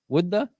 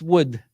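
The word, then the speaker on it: وُدّ: How do you say wudda? No, just wood. Wuddu. The Arabic verse is wood.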